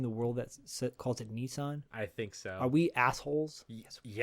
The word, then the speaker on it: Nissan: America by the way Nissan I think is Nissen Nissen really yeah I'm pretty sure there's a Gran Turismo movie coming out and everybody in it is pronouncing it Nissen and I'm like is